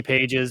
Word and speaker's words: Pages: I think it's Andy PES PES yeah P yeah I would say Andy Pages because it's Andy Pages because that's how it's spelled uh he had his